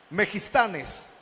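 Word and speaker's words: μεγιστᾶνες: La frase para grande en el griego es aquella palabra que se escribe así y se pronuncia así: Megistanes.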